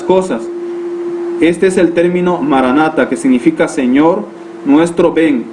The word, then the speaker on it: maranatha: de jesús y que en arameo se pronuncia maranatha que es señor nuestro ven